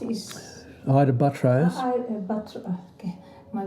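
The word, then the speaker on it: Ita Buttrose: Ita Butros is... Ida Buttrose. Okay, my pronunciation.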